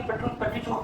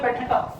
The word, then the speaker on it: petrichor: पढ़ेंगे, ठीक है, ऐसा मत कर देना कि पेट्री चोर पढ़ रहे हैं, इसको पढ़ते हैं पेट्रिका, पेट्रिका पढ़ते हैं। यहाँ पे आर जो भले लिखा हुआ OR, लेकिन उसको नहीं पढ़ते, इसका करेक्ट प्रोनाउंसिएशन क्या है, पेट्रिका।